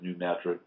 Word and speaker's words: New Madrid: got problems the New Madrid fall or the New Madrid is how we pronounce the year um that is connected to